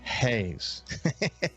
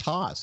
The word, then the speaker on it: Haas: I knew already, that it's not pronounced Haas. It's pronounced Hayes. It's just a unique pronunciation that this family has.